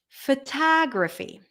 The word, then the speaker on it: photography: fo fo photograph photograph if we add the suffix graphy then it changes photography photography so when we change the